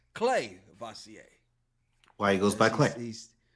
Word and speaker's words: Clavacia: I just realized I've been saying it wrong. I thought it was Cleasier. No, it's Clay Vasier.